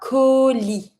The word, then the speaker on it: colis: Then a package, un colis. Don't pronounce the S. Colis.